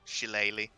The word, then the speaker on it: shillelagh: Just cast that goddamn shillelagh. Sure, sup, motherfuckers. So Shillelagh, that's how you pronounce that.